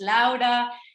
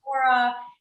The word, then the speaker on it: Laura: She still wants her name to be pronounced Lauda instead of Laura.